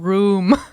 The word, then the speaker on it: Raum: Yes, it is fucking room. Oh, Raum.